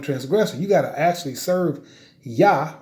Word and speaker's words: Yah: a rebel and transgressive you gotta actually serve yah right right in the hebrew dialect right okay